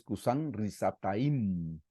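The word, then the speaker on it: כּוּשַׁן רִשְׁעָתַיִם: a Dios lo vencieron es kusan risataim aquí es como se pronuncia en hebreo que lo tomé igual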